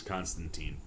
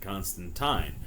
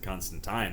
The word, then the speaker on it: Constantine: But she always says Constantine and stresses it, and it's one of those things that I think readers have always read it as Constantine, but Gaiman has always pronounced it Constantine. And he was recently interviewed where he went into it, but the reason that he's always said Constantine is that's how Alan Moore, the creator of John Constantine, said it when